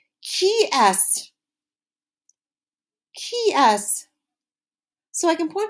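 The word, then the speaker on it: qui est-ce: we ask this question that is pronounced very differently than it looks say it after me it's key s KY so I can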